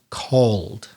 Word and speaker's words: called: bit cold a c-a-l-e-d remember the e is silent i think you said like call it a typical mistake silent e called and sonia also sent